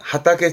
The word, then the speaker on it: 畑: 발음은 하게 하게 뒤글자 있던 거 다르단 얘기죠 발음은 하타게 지가이 뭘까요 하타게 지가이 밭이 다르다 밭이 다르다는